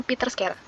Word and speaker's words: PITTRSCARE: Website ini berjudul PeterScare, dibacanya PeterScare.